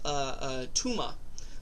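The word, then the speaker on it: טומאה: Now, this Torah portion deals with Tuma. Not like, Kindergarten Cop, where Arnold Schwarzenegger goes, "It's not a tuma," but it's pronounced the same way.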